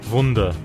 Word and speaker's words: Wunder: No, I'm going to take a guess that this might be how you pronounce wonder in German. Wunder.